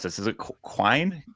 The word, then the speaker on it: Quine: How do I pronounce this? Is it Quine? Quine.